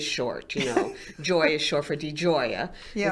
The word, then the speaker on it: Di Gioia: Joy is short for Di Gioia. Yeah. It's spelled Digioia, just like it sounds. Yeah. Only it sounds like an Italian argument.